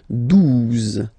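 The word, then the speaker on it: douze: 12, 12, O, U, the two together will give you the sound OO, okay? And then Z, 12, 12, all right?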